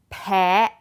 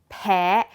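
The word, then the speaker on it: แพ: Allergic is peh, peh.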